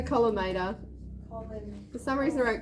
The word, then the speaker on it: collimator: Culminator. Is that M-O-N? Column. L-I-M-A-T. No, I've just made up a word. That's just culminator. Sorry. It's a collimator.